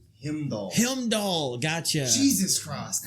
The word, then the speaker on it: Heimdall: Helmdall? Himdall.